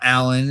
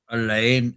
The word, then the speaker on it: Alain: It's not Alan. It's not Elaine. It's Alain.